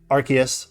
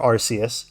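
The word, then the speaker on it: Arceus: we have me Gerra archus or arus however you want to pronounce it I I'll say either Victini Hoopa Unbound Hoopa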